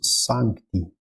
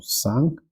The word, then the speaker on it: Sancti: Então, Spiritus Sancti, tudo bem? Esse Sancti aqui também é importante ser bem pronunciado, tá? Às vezes as pessoas vão engolir esse C, é comum, tá?